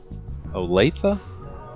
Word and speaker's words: Olathe: We are on the ramp in Olathe, Kansas, I want to say is how you pronounce the city.